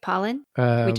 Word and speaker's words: Pollan: Richard Pollock did I say his name right Pollan Michael Paul Michael Pollan yes thank you yeah